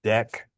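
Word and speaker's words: deque: It's pronounced deck.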